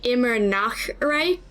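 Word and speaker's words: Immernachtreich: She was supposed to be saying immer Nachtrei, which means always night land, but she kept kind of inserting a K there instead of doing the CH like H sound.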